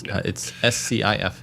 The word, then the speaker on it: SCIF: It's pronounced it's SCIF. I think it's like a building too.